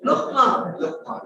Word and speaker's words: luqma: What we call a lukhma. A lukhma is a small little bite. And said in a very Kashmiri way. Luqma.